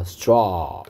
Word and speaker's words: straw: AW가 O 소리 납니다. O 이거 발음 기호 O입니다. C를 거꾸로 쓴 것처럼 하는 게 이게 O라는 발음이 난다는 뜻이고요. 여기 뒤 옆에 있는 점두 개는 길게 소리 내라. 그러니까 O 이렇게 소리 내란 말이 아니고 O 이렇게 소리 내란 말이니까 straw 이렇게 발음하면 되겠죠.